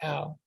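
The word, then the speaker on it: או: And it basically is pronounced ow or o. Some pronounce it as o, but the correct pronunciation here, based on the letters used, would be o. Excuse me. It would be ow, because it forms a diphthong.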